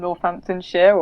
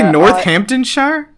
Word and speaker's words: Northamptonshire: I'm Jess from Northamptonshire, also in the UK, and Would you say Northamptonshire? Northamptonshire.